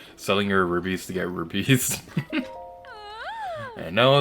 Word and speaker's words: rupee: kind of funny selling your rubies to get rupees i know it's pronounced rupee but i don't like that pronunciation so i'm gonna keep calling it ruby and there's nothing you can do to stop